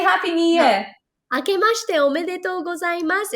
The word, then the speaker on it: 明けましておめでとうございます: 明けましておめでとうございます.